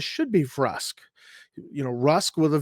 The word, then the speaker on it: Vrusk: it now i believe i actually did say verse for a long time uh when the game first came out and i first got the game i think we pronounced it verse and later on i uh you know when i was older i just i really think it should be rusk and i really believe